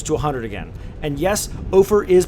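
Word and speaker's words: Ophir: current population close to 100 again and yes ofer is pronounced over over like gopher all right boys we're about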